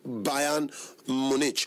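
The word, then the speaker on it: FC Bayern München: It's pronounced Bayern Munich, but they spelt it as Bayern Munchen. Yes, I know they hear German, so but we were here, we be English people, they call them Bayern Munich.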